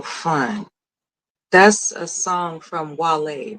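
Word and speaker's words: Wale: That's a song from Wall, right? I I just learned how to pronounce the name. I thought it was whale, but apparently it's Wall and Easy Baby, I never made it was that.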